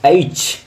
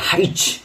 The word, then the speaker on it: H: ব্রিটিশে আমরা বলি, ব্রিটিশ ইংলিশে আমরা বলি এইচ, এইচ, এইচ, এ হর্ষই এইচ, এইচ। আর আমেরিকানরা বলে হাইচ, আই, আই, আই।